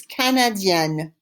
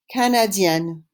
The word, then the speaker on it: canadienne: Say it after me. It's Canadienne. Canadienne.